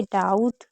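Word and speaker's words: doubt: जैसे डाउट, date, subtle, थम, नम, लिम, plumber, climb, com, lamb, Baum and debtor.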